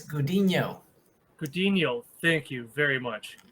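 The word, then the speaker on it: Gudiño: Is it Guadino? It's Gudino.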